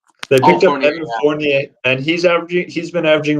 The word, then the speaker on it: Fournier: I said Frontier, and that's definitely not right. Evans. Oh, Evan Fournier. They picked up Evan Fournier, and he's been averaging